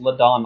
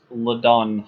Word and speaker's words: Ladon: right it's not pronounced Ladon art it's pronounced laDawn hahaha got it first-name Alex middle name la last name Don hahaha it's good shadings